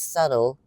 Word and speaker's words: subtle: sub till sub okay because subtle silent b s u BT l e silent B that's subtle subtle but this one it's a hard be subtil okay got it thank